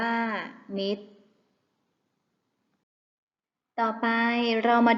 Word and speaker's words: มิตร: บุตร อ่าน ว่า บุตร มิตร อ่าน ว่า มิตร ต่อ ไป เรา มา